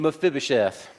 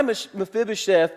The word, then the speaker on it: Mephibosheth: And his guy, let's everybody say his name, Mephibosheth.